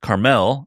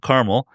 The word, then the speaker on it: Carmel: Born in New Orleans and raised for a long time, I think is pronounced Carmel, not Carmel, Carmel, California, Pete and his family eventually moved to Virginia.